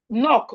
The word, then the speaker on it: knock: We have knock. So you can see the pattern here. Whenever you see K and N at the beginning of the word the um K is not pronounced.